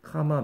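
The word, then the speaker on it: comma: 그래서 A로 끝나면 즉 형용사로 끝나면 몇 부위 카마 몇 부위 쓰는데 여기는 뭐라고 써야 돼? 2부위 콤마하고 그 다음에 5부위 이렇게 얘기하죠. 콤마라고 발음하면 안 되죠. 카마죠. 카마.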